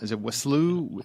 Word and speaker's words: Wiseau: And was directed by Tommy, I don't know, how do you pronounce it? Is it Wiseau? Wiseau, okay.